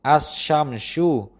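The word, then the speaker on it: الشمس: Contoh pengucapannya adalah seperti as-shamsu. Dalam kata itu, huruf sukun lam tidak terdengar.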